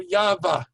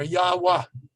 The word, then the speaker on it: Yahweh: sound is an ah then you have the letter v which while biblical times was probably pronounced as a w like in in arabic what today it's pronounced as a v sound and then hey on the end again so yava or yahwah uh and you will